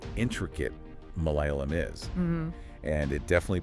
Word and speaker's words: Malayalam: pronounced differently oh really the first one is a standard L but the second one is retroflex so you make it by curling your tongue back oh wow yeah it's